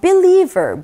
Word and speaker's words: believer: 자, 이 단어에는 강세가 어디 있는지 살펴볼게요. 역시나 리에 있습니다. 그래서 believer, believer 이렇게 발음하죠.